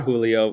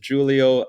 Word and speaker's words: Julio: It is not Julio. It is Julio. I am originally from Brazil. I do not speak any Spanish at all, but I do speak Portuguese, and that's why the pronunciation of the J is a hard J.